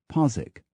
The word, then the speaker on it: Postwick: they hide, so that Postwick is Posick, Puncknowle is Punnell, Keigley is Keithley, Holnicote is Honeycutt.